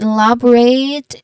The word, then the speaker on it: elaborate: U has a long oo sound and then elaborate. Um, it does a stress on the second syllable.